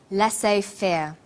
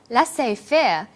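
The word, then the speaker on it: laissez-faire: he uses the phrase laissez faire laissez faire is a borrowing from french it closely reflects the pronunciation of the original language and the original spelling do you know the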